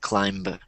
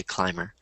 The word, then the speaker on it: climber: climber clim okay because if there if the B was pronounced you would say climber or which you don't you just say Climer good question any other